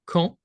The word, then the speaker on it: quand: Alors, c'est quand. Quand? Le D est muet. Pas de son.